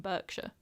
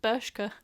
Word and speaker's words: Bershka: I'm currently wearing a pair of like 90s baggy jeans, which I think are originally from Berkshire. No, is that how you say it? Bershka.